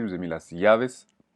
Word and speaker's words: llaves: Je vous ai pas mis un mot facile, je vous ai mis las llaves, double L qui se prononce, qui se prononce comme un I.